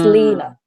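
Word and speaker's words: Līna: So the ones with the lines it just means that you pronounce the vowel longer. So like my name is written L-I with a line, but it's Lena, and it's not Lina.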